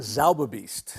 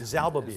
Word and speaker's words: Zauberbiest: Well, have you got the pronunciation down? Zauberbiest. Zauberbiest.